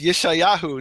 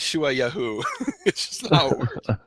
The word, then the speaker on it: Yeshayahu: it you shy yahoo my name is Yeshayahu not Shu a yahoo so the reason there's a